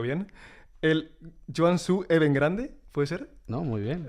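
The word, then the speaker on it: Guangzhou Evergrande: Sí, imaginaba porque además fuiste al al club más grande de China que es el, a ver si lo pronuncio bien, el Joan Suu Even Grande, puede ser, ¿no?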